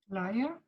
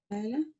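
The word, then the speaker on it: ليلى: However, the most common exception, and you have to know it, is this word. Try to read it. This is a name. How do you read this? Laia. Again? Laiha. Layla. Layla. Layla. Yeah, that's the name Layla.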